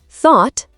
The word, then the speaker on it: thought: Thought, say thought. Yes, GH used to sound like a rough h or ch in Old English, but now it's silent in most words.